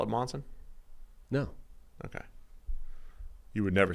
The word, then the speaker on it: Monson: This is how you're supposed to pronounce it. Monson. Yeah, see again, different. It's a U, not an O. It's wrong. Didn't they spell it Monson?